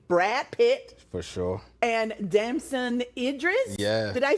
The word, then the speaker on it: Damson Idris: And Damson Idris, did I say it right?